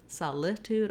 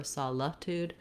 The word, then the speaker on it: solitude: may help you then our letter i is going to say the ih sound or even a schwa even saw luck dude solitude or solatude that's because this syllable is very short and reduced so don't spend much time on it versus solstice um we'll